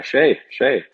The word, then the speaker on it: Skjei: So it's Norwegian name. And I went there, and I mean, every single person knew exactly how to say it. It was the first time in my life where everyone's like, oh yeah, Skjei.